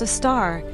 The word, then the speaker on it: Sagittarius A*: The one at the center of our Milky Way, known as Sagittarius A*, pronounced a star because astronomers enjoy confusing punctuation, weighs in at about 4 million solar masses, and that's considered modest by cosmic standards.